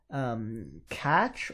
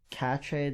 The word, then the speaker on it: cache: Cache or cache, depending on how you pronounce it, should be called cache. It's spelled like this.